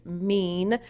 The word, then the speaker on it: MIIEN: I know some of you guys are mispronouncing it, but it's MIIEN Consultancy.